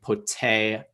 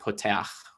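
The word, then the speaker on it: פּוֹתֵחַ: It's telling you, don't stress the last syllable, stress the second to last syllable. So, you know, again, like poteach, not poteach.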